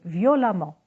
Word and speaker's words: violemment: violent et un amant attention on double m et le e se prononce à on ne dit pas hurlements mais violemment on ne dit pas